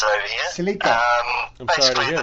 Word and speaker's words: Celica: That's how you pronounce it over here. Celica.